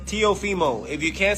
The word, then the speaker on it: Teofimo: Tofimo. All right. Tofimo Lopez. Look, if y'all got a problem saying my name, I'm going to show you how to say it. All right, it's Teo Fimo.